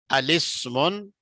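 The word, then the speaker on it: الاسم: अच्छा, अलिस्मुन अलिब्नुन पढ़ेंगे, असल में था अल इस्मु अल इब्नु, इसको क्या पढ़ेंगे, अलिस्मुन अलिब्नुन, हाँ जी, इस तरह पढ़ेंगे।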